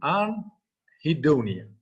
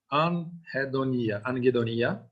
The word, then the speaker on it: anhedonia: Anhedonia. It's a Greek word. Actually, in a Greek language, it sounds like anhedonia, but British pronunciation is anhedonia.